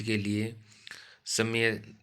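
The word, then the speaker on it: क्ष: का सही उच्चारण है कस वर्ण का उच्चारण कस और श कस है यह दे रखा है आपको यह से आएगा और क आएगा हलंत वाला उसके बाद अनुग्रहित का शब्द देखो अनुग्रहित होगा।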